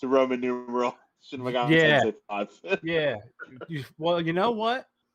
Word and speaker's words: Shin Megami Tensei V: Shin Megami Tensei 5.